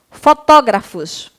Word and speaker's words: fotógrafos: do texto tá bom fotógrafos por quê que fotógrafos é acentuada a tia porque é uma proparoxítona tá bom proparoxítona a sílaba tônica é a antepenúltima então você vai colar